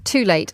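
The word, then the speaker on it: Tul8te: So everybody, go and have a look at Too Late. I think it's spelled T-U-L, the number 8, T-E.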